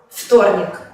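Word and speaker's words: вторник: Por ejemplo, en la palabra vtornik, que se pronuncia como vtornik, se escribe yubka, pero se pronuncia yubka.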